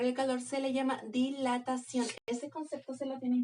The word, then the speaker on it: dilatación: calor se le llama dilatación. Ese concepto se lo tienen que aprender. Lo voy a poner aquí entre paréntesis. Dilatación con acento en la O.